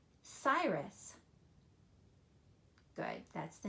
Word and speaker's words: Cyrus: it with the C it looks like it would be either Kairos or Karis but that is a soft C so it's going to say Cyrus good that's the name